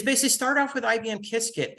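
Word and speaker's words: Qiskit: uh tutorials is basically start off with IBM kiskit it's free it's spelled q-i-s-k-i-t and then you can go through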